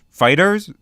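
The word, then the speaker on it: FighterZ: II wait a second it's pronounced fighters fighters fighters huh well somebody tossed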